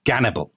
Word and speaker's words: Gannibal: they call him Hannibal now the Russians pronounce that Hannibal hence that's why he's called cannibal as it were but